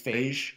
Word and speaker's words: Feige: How do you pronounce it? Whoa, watch it there. Feige? Yes, it's Feige. Feige. Like beige.